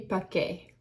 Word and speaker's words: Paquet: This again is Bourgogne Chardonnay 2023 Domaine Famille Paquet. I think that's how you pronounce the P-A-Q-U-E-T.